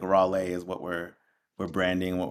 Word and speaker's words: Rawle: It is Raleigh. As an artist, we kind of put an accent on the end, so it's like Raleigh. So kind of Okay. like a to just kind of like slightly differentiate the brand from the personal. But there's like three ways to say my name. It's Rawl, Raleigh, and then the artist name Raleigh.